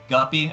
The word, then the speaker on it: GUPI: Well, there's like Goopy. I don't know how you say it. I say Guppy. Guppy.